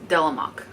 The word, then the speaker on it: Delemhach: switch by delam delok I listened to how to pronounce the name a couple of times uh with the Audi book that I listened along with physically reading this and it's delok so okay so this is